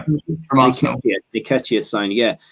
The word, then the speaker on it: Nketiah: How do you feel about the potential Nikita? Is that the right pronunciation? Nketiah from Arsenal.